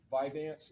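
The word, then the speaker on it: Vyvanse: Um, Viveance, is that how you pronounce it?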